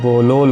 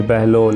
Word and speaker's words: بہلول: پامال نہیں ہوئی۔ ناظرین، بہلول کی بے پر پیش اور ہے پر جزم ہے، لام پر پیش ہے، اس لیے اس کا صحیح تلفظ بہلول ہوگا نہ کہ بہلول، لیکن ہمارے ہاں بہلول